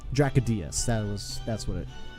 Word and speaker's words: Dracodius: Dracodius. That's how he pronounced it. Dracodius. He kind of like splits the word.